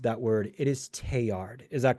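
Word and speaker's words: Teilhard: And I do believe that I mispronounced that word. It is teard.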